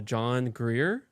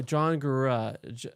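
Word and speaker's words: Gurra: Did I say his name right? Have you heard of him? I'm not familiar. Oh, John Gura. J O N G U R R A.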